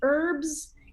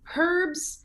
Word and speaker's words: herb: in english don't pronounce in american english do not pronounce an h sometimes in the start of a word like h e r b we would say herbs in british english they say herbs and that is actually